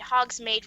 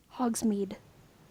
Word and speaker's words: Hogsmeade: Then I saw a poster saying that MCR would have a concert at Hogsmeade right then.